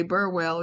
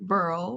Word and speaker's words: Burwell: the will of Mr we we say Burwell you you pronounce it Burl but that's another story um I found I